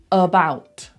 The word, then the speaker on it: about: About, about. Not about, about. That neutral sound.